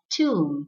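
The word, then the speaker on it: tomb: o m b as two and not term or two b is silent so two two in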